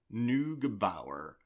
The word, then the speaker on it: Neugebauer: Neugebauer.